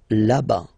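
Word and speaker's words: là-bas: la whoops laba laba remember final s not pronounced laba so remember when you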